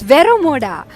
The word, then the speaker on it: Vero Moda: right there hi it's vero vero mod its Vero Moda okay so and this like Vera Moda ilium